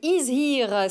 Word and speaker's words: Is Here: et c'est écrit dessus is here c'est de l'anglais mais ça se prononce à la française pour désigner le 100%